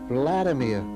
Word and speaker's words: Vladimir: my name and he told me his i mispronounced his name and so he corrected me by saying no Vladimir we didn't speak for the next two